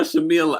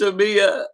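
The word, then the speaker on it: Shamea: Everyone's calling her Shamila. I can't stand Is it Shamila or Tyla? It's Shamia. Shamia. Well, you can see how relevant she is.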